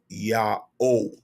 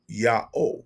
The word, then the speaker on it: YA'OH: have his name and his true name is yaho yaho y a apostrophe o h now the spelling of the name is the pronunciation of the name that's what's most important is the pronunciation his name is yaho and it cannot be transliterated or trans uh